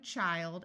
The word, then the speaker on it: child: Notice when you have one child, it has a long I sound.